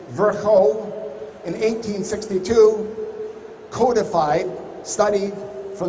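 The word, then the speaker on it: Virchow: the first place when virgil or if you prefer the proper pronunciation virgo in 1862 codified studied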